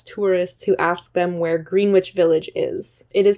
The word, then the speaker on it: Greenwich: where they harass tourists who ask them where Greenwich Village is it is pronounced Greenwich Village if you are not familiar